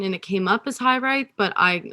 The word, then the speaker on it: Hiraeth: it came up as high right but i like that could even be wrong still because it's a welsh word as far as i'm